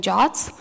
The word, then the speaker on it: JWT: The pronunciation is very popular and very common to call them JOTs.